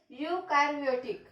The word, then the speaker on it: eukaryotic: Number 1 इज प्रोकॅरियोटिक and second one is eukaryotic. Prokaryotic and next is what? Eukaryotic. Spelling कडे NEET लक्ष द्या. Pronunciation कडे NEET लक्ष द्या. युकॅरियोटिक बोलतोय, स्पेलिंग ई पासून स्टार्ट होत आहे. EU.